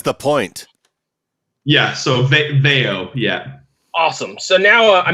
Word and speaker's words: Veio: How do you pronounce the name of the band? Veio. Veio, Right.